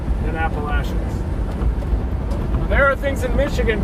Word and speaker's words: Appalachians: mega shelf to come out of the southern Appalachians. In Michigan, where I was born, not necessarily my choice, but they taught us to say Appalachians and Saskatchewan.